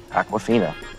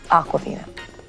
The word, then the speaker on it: Awkwafina: Awkwafina. Awkwafina. Like the water? Well, it's spelled differently.